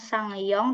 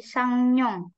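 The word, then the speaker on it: 상영: kalau dia cowok berartiangong ini bacanya bukan sangong tapi sang Nong Nyong ada muncul n di situ sang nongta dia samar-samar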